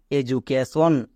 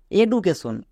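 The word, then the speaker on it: education: সি এ কে টি আই ও এন সন এডুকেশন একে অনেকে ভুল করে বলে এডুকেশন কেন বলে কারণ তারা ডি এর উচ্চারণ জানে না ডি এর জন্য কখন বর্গীয়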